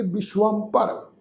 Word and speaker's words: विश्वंभर: इस तो अगला शब्द है जी बब्बे नूं सिहारी। तुसीं देखो सस्से दे पैर विच अद्धा वावा लगा होए, उपर टिप्पी दी मात्रा, फिर भब्बा अखर, फिर राड़ा। इहदा उच्चारण करांगे विश्वंभर।